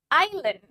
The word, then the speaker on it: Island: the D rules when the I is followed with silent s like in the word Island one more time Island